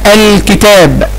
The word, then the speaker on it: الكتاب: كلمة الكتاب، الكتاب، نطقت اللام؟ نعم نطقت اللام، الكتاب، نطقت اللام، اذا هي لام ايه؟ شمسية ولا قمرية؟ هي لام قمرية.